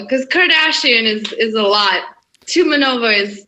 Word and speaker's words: Tumanova: I know my last name looks long in Russian, but it's actually not. It's easy to pronounce. Tumanova.